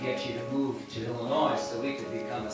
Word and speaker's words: Illinois: That's the name of the song, the state of Illinois. They spelled it out E-L-A-N-O-Y, so you know how to say it.